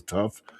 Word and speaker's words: TAWWF: It's like we we pronounce it as tough.